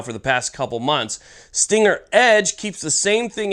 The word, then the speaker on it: STNGR: it's from a company called Stinger USA it's spelled St NR now Stinger USA has actually